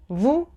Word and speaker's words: vous: Vous êtes. So again, O-U-S, you don't pronounce the S.